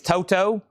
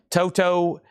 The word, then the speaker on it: Toto: Uh, I'm being told you pronounce that second T like a D.